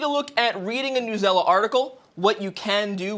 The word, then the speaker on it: Newsela: over new zela yes new zela is the proper way to sell it say it i used to say news ela back in the day but newsela is the correct way to say it fun fact but today